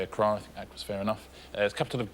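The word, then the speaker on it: Accra: be the pronunciation please once again it's Acra a lot of people say Acra was fair enough capital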